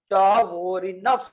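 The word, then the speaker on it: Chvorinov: इसको पढ़ते हैं चौविनस रूल्स, ठीक है। ये पढ़ने में थोड़ा प्रोनाउंसिएशन में प्रॉब्लम होगा, ठीक है।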